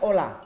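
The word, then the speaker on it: hola: Bagaimana cara membaca "H-o-l-a"? Dalam bahasa Indonesia? Halo. Halo. Namun dalam bahasa Spanyol, dibaca sebagai 'ola'. Jadi, huruf H tidak perlu diucapkan.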